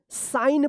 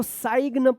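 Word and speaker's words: sign: क्या रहेगा साइलेंट होगा याद रखना एन से पहले अगर के आता है तो के साइलेंट होगा और एन से पहले जी आता है तो जी भी साइलेंट होगा। तो इसको क्या पढ़ेंगे? साइन पढ़ेंगे।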